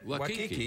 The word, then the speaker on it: Waikiki: How do you pronounce it then? I think that's it. Waikiki.